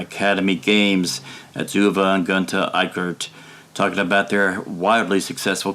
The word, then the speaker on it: Eickert: From Academy Games, we have, and let's see if I still remember the pronunciation of it, Uwe and Gunter Eickert.